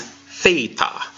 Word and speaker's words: theta: but not least is theta and theta sounds like the th in thing did you remember the